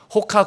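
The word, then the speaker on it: Roca: 거기에는 호카을 뜻하는 카보다 로카 로카가 포르투갈 말로는 호카라고 읽습니다. 호카 곧 표시와 함께 그 밑에 19절이 적혀져 있습니다.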